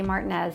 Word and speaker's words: Martinez: And so now I also say Martinez. So just know that I know that that's not the way you say it, but that's how they say it here.